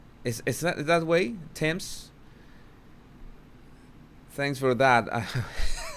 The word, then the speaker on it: Thames: A double rainbow of the River Thames.